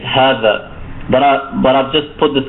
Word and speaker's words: هذا: But keep in mind that it's not, if you don't see this alif, you don't pronounce it as hadha. It's a long vowel, so it's hadha, hadha, meaning this is.